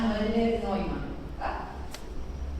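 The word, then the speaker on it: Noelle-Neumann: Es Noel, se pronuncia Noel, pero como es alemana, Noel Neumann.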